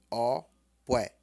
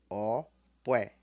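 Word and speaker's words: Ọ̀pẹ: falar emti B op porque dezembro pronuncia-se Oé Oé Tom baixo e Tom médio Oé ti bini opé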